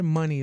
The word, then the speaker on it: Muni: he was like yeah you should pronounce it money though so that's how I